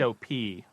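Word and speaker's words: hop: it comes from ho o p op it sounds like op in French because you don't pronounce the h so alop alop like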